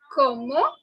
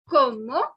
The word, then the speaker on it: comment: Comment tu t'appelles? Comment tu t'appelles? Now I know this word looks like the word comment in English, but it is not comment.